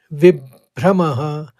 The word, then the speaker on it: विभ्रमः: सुनिएगा इसको सम्मोहात स्मृति विभ्रमः विब कहा मैंने पहले ब का आघात लिया और फिर भ्र से भ्रम कहा एक बार और सुनिए